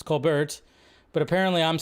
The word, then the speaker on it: Colbert: name wrong it's cuz I say Cole Bert and he goes it's Cole Bert yeah some of these are a little bit too much like Colbert it's Colbert I know it's not